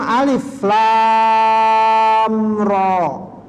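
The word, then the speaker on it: الر: Ya, kalau orang yang enggak biasa baca Quran bisa dibaca alar ini ya. Ya. Kahaya aso ya. Ya. Jadi dia dibaca utuh sebagaimana hurufnya alif lam ro gitu ya.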